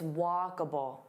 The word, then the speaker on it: walkable: So here there are 3 sounds, walkable. So notice that and then bull. It's not able, it's walkable, walkable.